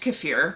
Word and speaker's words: kefir: It's pronounced kefir, by the way, but I was raised drinking kefir, and in my mind, since I was, 3 years old, the word is kefir, so I'm probably gonna keep calling it that.